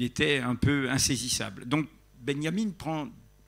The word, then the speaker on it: Benjamin: autre chose benyamine valter benjamin benyamine comme ce qu'on prononce à l'allemande qui comme vous le